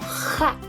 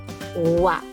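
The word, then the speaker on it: は: Esta letrita de aquí, esta sílaba, recuerda que la leemos como ja, pero cuando la vamos a utilizar como partícula la vamos a leer como wa.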